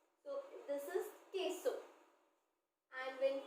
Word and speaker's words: queso: queso this is queso when q u e this is k u e are coming together it will pronounce like a k so this is queso and when q u